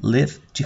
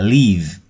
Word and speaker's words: live: Nhớ là cái từ live này là âm y ngắn, live chứ không phải là leave. Leave là rời đi, rời bỏ. Từ này đọc là live.